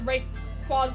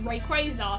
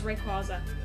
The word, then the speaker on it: Rayquaza: and by the way I absolutely refuse to pronounce red quaza as way quasar so that's it however far far up in sky lives Rayquaza humanoid known by few